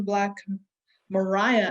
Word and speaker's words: Black Maria: fun ones was the thomas edison black mariah actually that's how it's pronounced um that was when